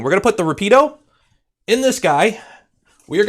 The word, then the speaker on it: Rapido: The pronunciation is more Rapido.